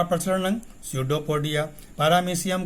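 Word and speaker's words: pseudopodia: तो अमीबा का प्रचलन अंग है कूटपाद, इसको अंग्रेजी में स्यूडोपोडिया कहते हैं, यहाँ पी साइलेंट है, स्यूडोपोडिया।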